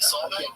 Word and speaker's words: Solvang: I think Solvang. That's how you say it.